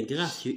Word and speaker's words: gracieux: corps gracieux très bien gracieux x muette un corps gracieux répète